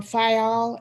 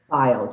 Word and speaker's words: Fayal: Thank you, and good morning, Board Member Fayal. Am I pronouncing that correctly? It's File, just like fingernail file.